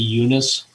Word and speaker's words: Eunice: I believe it's Eunice, but maybe we need to talk to our Kearney people. president. There you go. Yeah, it is pronounced the Eunice Conference Center.